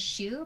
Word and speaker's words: Shu: uh my name is shu pronounced like the shoes that probably nobody is wearing right now um she hears and